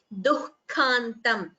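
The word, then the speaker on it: दुःखान्तम्: Please note the pronunciation of the word dukkhantam, dukkha. This word comes multiple times in the Gita, and in all classes we have stressed upon the pronunciation.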